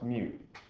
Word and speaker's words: mu: yourself for you and it's pronounced mu mu mu asks for static friction